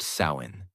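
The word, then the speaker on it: Samhain: The night of the festival called Samhine, pronounced sain.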